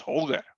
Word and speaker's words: Holger: Oh, it's Windhoek, so it's Holger. Yes. There we go. With it hard a G, Holger. That's fine. Thank you, Nico. Yeah. Awesome. Holger, with a hard G.